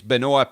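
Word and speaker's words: Benoît: mad man's first name it's Benoa pair and then Kevin Anderson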